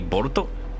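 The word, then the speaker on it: ボルト: pronounce say for example the word bolt in Japanese would be boruto so actually you know Naruto's son boruto his name is just bolt his his name is actually just bolt like forget boruto his name is Bolt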